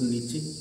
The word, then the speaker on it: niche: छठवां शब्द है, बोलते हैं हम इसको नीचे, ये बोल ही सकते हैं, NICHE, नीचे हो जाएगा। लेकिन इसका देखो अलग अलग कैसे बोलते हैं इसको। इसको अमेरिकन में निच बोलते हैं, है ना।